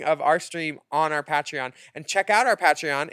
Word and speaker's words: Patreon: I think it's pronounced Patreon. Yeah, we all know that. Willam just says Patreon.